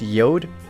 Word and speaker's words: Jord: just the pronunciation of the company j o r d but pronounced yod sounds like some kind